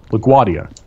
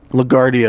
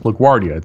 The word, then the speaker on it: LaGuardia: does the anyway so it's it's pretty it's pronounced LaGuardia yeah ligardi is what a lot of people say no wait no it's pronounced LaGuardia that's how it's spelled yeah but my mom